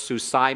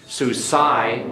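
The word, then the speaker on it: סוּסַי: this is tricky but if you keep Sushi and suicide in your mind so see my horse suicide my horses so see my horse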